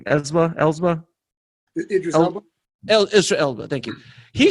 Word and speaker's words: Idris Elba: Idris Elba. Elra Elba. Thank you. He shows up and and my wife who's that I go that's Ezra Elba.